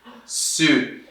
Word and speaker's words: suit: Suit. E esse U, I no final vira U, só U, né?